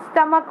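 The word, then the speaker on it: stomach: रहे हैं हम लोग, K बोल रहे हैं, है ना, स्टमक बोल रहे हैं, मैं स्टमच बोल रहे हैं क्या हम लोग, नहीं। तो स्टमक का मतलब क्या है, हमने इस CH को कैसा प्रोनाउंस किया है, K।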